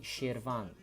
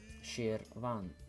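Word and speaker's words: Şirvan: is no letter of so you're right SH but when you say it in Azerbaijani language it's gonna be sheer Vaughn sheer Vaughn Vaughn it's also one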